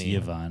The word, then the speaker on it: Yvonne: It's Yvonne, unfortunately. It's Yvonne. She's And guess saying what? her name wrong.